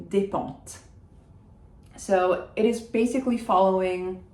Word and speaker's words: Despentes: And Despentes, I do say the T at the end because it's followed by an E, but I don't pronounce any of the S's. It's not Despentes, Despentes. Constance Debré, Constance Debré.